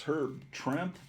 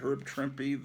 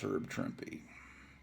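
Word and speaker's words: Herb Trimpe: this herb trimpy cover which i always thought it was her trent but i've heard enough people now pronounce it herb trimpy that i know it's herb trimpy another great cover and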